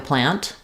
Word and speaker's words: plant: or not okay um question about whether we pronounce the T on the word plant so if I'm just saying it by itself I have a plant I can either say the tea or I can use an unreleased tea I